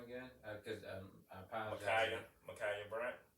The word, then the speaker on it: Ma'Khia Bryant: Ma'Khia Bryant. Ma'Khia Bryant. Like Kobe.